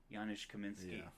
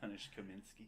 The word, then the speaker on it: Janusz Kaminski: Janusz Kaminski.